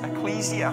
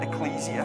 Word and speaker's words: ecclesia: The word that Paul uses here is the word ecclesia. Okay? Ecclesia, strictly speaking, if you want to pronounce it right. But we probably mostly hear it called ecclesia.